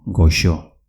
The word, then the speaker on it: goxo: Dulce en euskera se dice goxo. Repito, goxo, con una X.